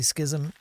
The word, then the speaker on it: Schism: I'm going to say schism. There's an E at the end. I don't think it's schisme.